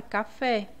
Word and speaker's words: café: E como exemplo aqui da última, nós temos a palavra café. Aqui o fé é a sílaba mais forte, né?